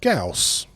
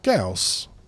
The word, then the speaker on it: Gauss: I won't so yes like I said Gauss get with it that's how you that's how you pronounce it yeah Gauss I should pronounce words